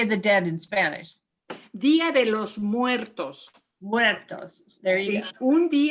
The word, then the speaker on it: Día de los Muertos: Día de los Muertos.